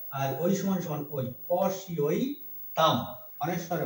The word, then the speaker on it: পশ্যৈতাং: পশি ঐতাম, পশি ঐতাম। এই যে ঐকার, এই জফলা ইয় হয়, ইয় সমান ই অ, রস্যিকার শয় এই রস্যিটা, আর ওই সমান সমান ওই, পশি ওই তাম, অনেশ্বরে ম হবে, পশি ওই তাম।